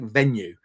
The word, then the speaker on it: Venu: called called venue so I think it's it's kind of pronounced like venue just was slightly different about the E and it says it's